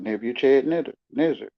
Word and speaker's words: Nebuchadnezzar: it, between the letters to the way to pronounce it, Nebuchadnezzar.